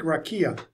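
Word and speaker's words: רקיע: The word used in the Hebrew to describe this firmament is pronounced, I think, rakia, which means to compress or pound out and stretch out this arc of heaven in thin metal sheets.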